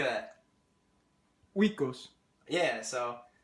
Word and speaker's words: Oikos: It's like Okos. I don't know how to say it. Oikos. How would you say that? Oikos.